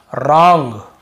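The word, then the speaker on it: wrong: यहां पर भी आपको आर को पढ़ना है डब्लू को नहीं पढ़ना देखिए रंग रंग यानी होता है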